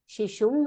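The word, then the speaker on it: शिशुम्: Shishum lalayati. Avagatam mahode? Yeah. So there are three terms: karma padam, kriya padam, and karta. Vishwanath mahode, vadatu. Mahode, should be pronounced it as shishum or shishu? Shishum.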